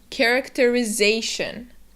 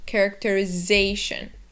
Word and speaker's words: characterization: thing is that um those last four letters the t i o n are just like in any other instance in english read as shun characterization and remember to stress that syllable before the shun characterization say with me